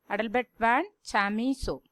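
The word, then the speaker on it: Adelbert von Chamisso: How do you pronounce his name, children? Adalbert van Chamisso.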